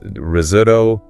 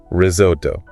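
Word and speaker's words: risotto: And pronunciation that pasta dish. Ah, risoto. It's risoto. Risoto.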